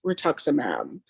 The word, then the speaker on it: rituximab: the bat she wants to do ivig and rituximab and that's how you pronounce it yeah you got it okay um